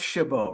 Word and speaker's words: Chabot: Your last name is pronounced Shabbo, right? It is. Yes.